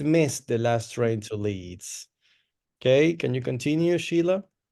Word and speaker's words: Leeds: Leeds is the pronunciation, okay?